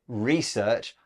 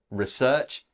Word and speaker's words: research: looking at the headline a note about pronunciation Beth you said research I say research it's just a change in word stress and both are fine now the headline we